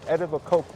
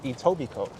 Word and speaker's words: Etobicoke: pronunciation of edible Coke it's not edible Coke it's Etobicoke as I've learned it only took me a day to learn that it's not edible Coke or a Toby Coke and what was the